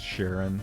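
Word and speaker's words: Charon: Um, like I think you know the thought I had was like I feel like it's slightly more common to pronounce Karen as Sharon.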